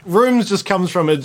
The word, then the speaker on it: RVMES: It's the Rooms, yeah? The Rooms. Rooms. It's spelled nice and funky, RVMES.